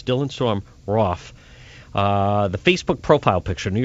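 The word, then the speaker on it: Roof: spelled roo f but it rhymes with cough so it's dylan so I'm Rauf the facebook profile picture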